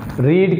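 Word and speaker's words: read: Were these lines being रीड की second form रेड, third form भी रेड। Spelling same होती है लेकिन इसमें प्रोनाउंसिएशन का थोड़ा सा फ़र्क होता है। रीड, रेड, रेड।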